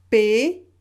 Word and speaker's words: paysage: Et ici, comment vous prononcez ce mot ici? Paysage, paysage. J'ai mis ici une correspondance pour que vous compreniez la prononciation, d'accord? Donc crayon, paysage.